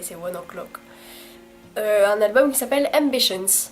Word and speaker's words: ONE OK ROCK: C'est comme ça que c'est censé se prononcer, vu que c'est un groupe japonais, c'est One O'Clock.